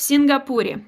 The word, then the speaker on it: Сингапуре: В Сингапуре. Hold on. Сингапуре. В Сингапуре. Yes, hold on. Да. The last you over here is not good. So, Singapore. Сингапур. Сингапуре.